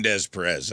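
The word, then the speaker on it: Des Peres: You mean Des Perez? That's how it's pronounced.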